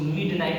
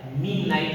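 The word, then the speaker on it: midnight: इसको मिड नाइट नहीं पढ़ेंगे, मिड नाइट नहीं होता है, मी नाइट होता है। क्या होता है? मी नाइट। यहाँ पर डी साइलेंट हो जाएगा, मी नाइट पढ़ेंगे। क्या पढ़ेंगे?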